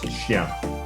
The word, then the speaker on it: chien: dog, you know, it's chien, which if you look at how it's spelled, it kind of looks like chain. It's not pronounced like that at all, but if you're going